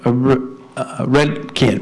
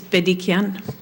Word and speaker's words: Bedikian: Next up for public comment is Redkin. Redkin? Did I say it right this time or wrong again? It's Bedikian. It's a B.